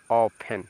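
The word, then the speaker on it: often: just बाद न है तो आपका टी साइलेंट तो इसको पढ़ेंगे ऑफेन क्या पढ़ेंगे बच्चों ऑफेन ऑफेन मींस होता है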